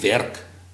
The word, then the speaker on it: werk: certain words like say werk. Okay. We will only say werk. Oh, you don't say the RK the R is silent. is left out.